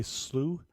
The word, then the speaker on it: slough: And you're saying slough, that's what I would say slough? S-L-O-U-G-H? Yeah, slough. So they, okay. Slough. But this is slogging through sometimes knee, sometimes hip deep water. Okay. So you can do the slough, or I'm pronouncing wrong, slogging, but that's something